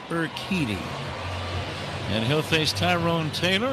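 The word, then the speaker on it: Urquidy: U R Q U I D Y pronounced Eriti.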